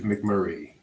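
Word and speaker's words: MacMurray: that is sad is it McMurray it is McMurray so can I tell you why I hesitate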